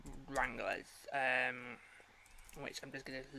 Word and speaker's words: Wranglers: Wranglers. It sounds like strangler. Oh, it does. Harvey, it sounds like, literally, it sounds like a strangler.